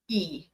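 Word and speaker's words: и: What's funny is in Russian and would be the character looks like a backwards N and it's pronounced E but it looks like a backwards N anyways.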